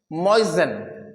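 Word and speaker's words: moisten: दूंगा जैसे हो गया ammo I एस टी ई एन अब दोस्तों ये मॉइश्चर से बना हुआ वर्ड मस्ट इसे हम पढ़ते हैं मजन मजन म दोस्तों होता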